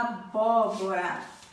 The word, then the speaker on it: abóbora: agudo coloca aqui G1 a abóbora acento agudo no primeiro o abóbora japonesa pêssego em